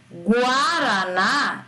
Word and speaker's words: guaraná: Agora, em Guaraná, eu não falo Guaraná, eu falo Guaraná. O U entra.